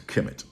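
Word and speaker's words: Kemet: in that script but i mean there were no vowels in that in that script but um we pronounce it as chemet right and which means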